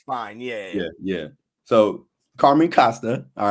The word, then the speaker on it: Costa: Is it Costa or Costa? How you say it? I say Costa. Costa. Okay. Most people say Costa. Okay. In Italy, it's Costa.